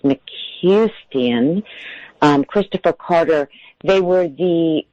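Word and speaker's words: McCuistion: And we should really give a shout out to Lolita Ritmanis and Michael, I think his last name is pronounced McCustian, Christopher Carter.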